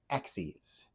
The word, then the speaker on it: axes: using reflections about the axes. And yes, I am pronouncing that right. I know it's spelled the same as axes, but we're not axing anyone.